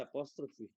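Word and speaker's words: apostrophe: Ese símbolo que se llama apóstrofe en inglés se dice apóstrofy.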